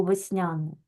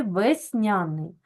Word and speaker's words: весняний: е передає звук е Але що ми одразу робимо ми ставимо наголос в цьому слові весняний Так отже у нас е не наголошений А ми знаємо що якщо у нас е знаходиться в ненаголошеній позиції то він у нас наближується за вимово до и і ось так ми